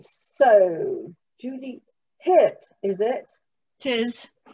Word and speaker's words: Hirt: okay right so julie hit is it it is it is pronounced in the german way it's pronounced in the